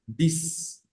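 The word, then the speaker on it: dix: Seis sería sis y el 10 es dis dis bien esa x suena como ese y se pronuncia y decimos dis Entonces tenemos los 10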